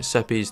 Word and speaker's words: Sepulchure: I know that I've been calling it Seppi's throughout the series, but I believe it's pronounced Sepulchure. I don't know though, that's just my take on it.